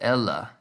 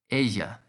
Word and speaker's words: ella: this won't be pronounced ella think of the word quesadilla the double l in spanish becomes a ya sound the same as the y in yo so it's asia let's use this word